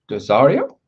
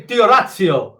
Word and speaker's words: D'Orazio: to the world, Angelo Dosario. How do you say it? Dosario? I say Diorazio. Think Italiano.